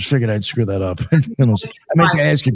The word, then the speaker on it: Mnemosyne: I say Mnemosyne. Yeah, that's what I thought. I was figuring I'd screw that up. Mnemosyne.